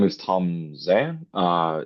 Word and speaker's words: Zhang: My name is Tom Xan. Uh, it's pronounced as Jang, my last name in Chinese.